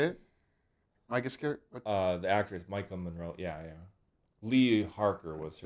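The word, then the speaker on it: Maika Monroe: The actress Micah Monroe.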